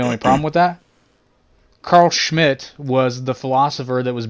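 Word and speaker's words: Schmitt: by the name of carl schmidt schmidt and you have to pronounce that way because he's german fella schmidt carl schmidt and his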